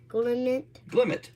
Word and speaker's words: Glimmet: G inmate glimmet. Very good. A tedau. No. How do you how do you pronounce t a d?